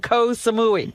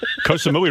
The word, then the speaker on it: Koh Samui: Koh Samui rhymes with Baba Booey.